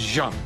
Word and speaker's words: Jeanne: This is Jeanne, and for all of you people in the United States as ignorant as me, it is not Jeanne, it is Jeanne.